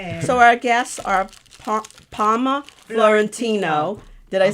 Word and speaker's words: Florentino: So our guests are Palma Florentino.